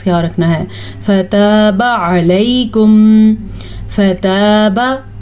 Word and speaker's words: فتاب: فتاب علیکم، فتاب، تا زبر الف تا، اسے لمبا کرنا ہے لیکن با زبر با، اس کو لمبا نہیں کرنا. اگر کوئی اس کو پڑھے گا فتابا تو معنی غلط ہو جائے گا.